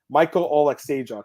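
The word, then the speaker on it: Michał Oleksiejczuk: I believe, excuse me, I keep saying his name wrong. This is the hockey player, Jamie Oleksiejczuk. I always get them confused. Michal Oleksiejczuk.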